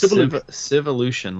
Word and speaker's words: Civolution: I think it's Civolution, like civilization and evolution.